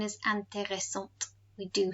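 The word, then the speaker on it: intéressante: is no longer on the end the feminine pronunciation is anteressant we do say the t let's look at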